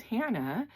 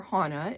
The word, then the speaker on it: Hannah: And um they could not say my name which is Hannah or Hana. It's pronounced both ways. My mother called me Hannah. My father called me Hana.